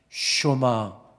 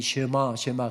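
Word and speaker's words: שמע: 쇼마 이스라엘, 이스라엘아 들으라. 우리가 흔히 쉐마 그렇게 이야기합니다만은 유대인이 교육법 이야기할 때 쉐마라는 단어를 많이 사용하잖아요. 정확한 발음은 쇼마입니다.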